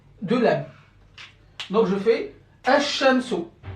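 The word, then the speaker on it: الشمس: Bien évidemment, attention, il s'écrit toujours, mais je ne dois pas le prononcer.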